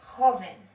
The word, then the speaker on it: joven: So for example, you should know that the letter J in Spanish is pronounced J. So if you have the word young, which I'm going to write here in Spanish, you will pronounce it joven. So that H sound.